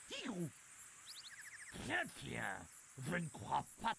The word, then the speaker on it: Tigrou: Salut, je suis Tigrou, T-I-double-G, ça se prononce Tigrou.